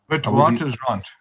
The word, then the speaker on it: Witwatersrand: Did I pronounce it right, Barry? Witwatersrand.